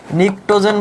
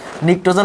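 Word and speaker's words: pnictogen: নিকটোজেন বলা হয়। ফার্স্ট লেকচারে বলছিলাম নিকটোজেন বানানটা কেমন দেখছো? নিকটোজেন তো এন হওয়া কথা ছিল, কিন্তু পি দিয়ে কিন্তু শুরু, নিউমোনিয়ার মতো।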